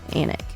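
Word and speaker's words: Alnwick: I'm going to spell anic for you because it is not spelled the same way we pronounce it or they pronounce it in England um it is spelled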